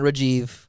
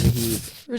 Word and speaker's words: Rahib: time, like all right, my name's Rahib. Yep. It's not Rajiv. It's not Rahib. Yep. It's Rahib.